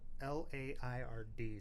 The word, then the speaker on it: Laird: I've never heard of them, but they've done this, and it's spelled L-A-I-R-D. So that is Laird, like that's Lord, but Scottish, Peter right?